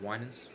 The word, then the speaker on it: Winans: Hey, no, can we agree on that? It's pronounced Winans.